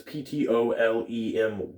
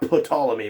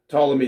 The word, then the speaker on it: Ptolemy: how you say that's p-t-o-l-e-m-y i think it's top like pronounced tall not put all of me but ptolemy maybe i'm wrong i don't know but